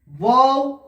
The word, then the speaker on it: واو: ওয়াও, ওয়াওটা উচ্চারণ হয় প্রথম মুখটি গোল থাকবে, তারপরে ওই অ উচ্চারণ হওয়ার পরে আবার ওই একই জায়গায় গোলে চলে আসবে।